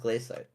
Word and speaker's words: glacite: I mean, it is shite, but it's it's pronounced glacite.